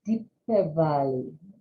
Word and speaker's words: Deepavali: So in Hindi, most people say Shubh Diwali or Happy Diwali, but I believe in Sanskrit, it's pronounced Deepavali. So happy Diwali to you.